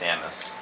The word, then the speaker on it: Samus: Samus? Actually, it's pronounced Samus.